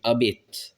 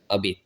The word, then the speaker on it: abit: Donc sapin ben c'est abet abit. Là aussi la prononciation peut varier. Abit ça peut devenir ou des trucs comme ça quand on va plus à l'est notamment. Donc au nord aussi d'ailleurs je crois abit c'est vraiment la prononciation bernaise.